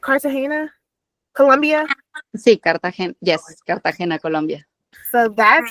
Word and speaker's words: Cartagena: Sí, Cartagena.